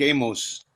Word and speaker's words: Amos: My name's Amos. Rhymes with famous.